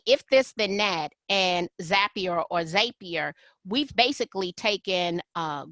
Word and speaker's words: Zapier: So oftentimes I'm using tools like, would you call it Zapier or Zapier? I call it Zapier, but I don't know if there's a wrong or right way to pronounce that one.